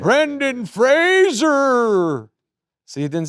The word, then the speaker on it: Fraser: Fraser.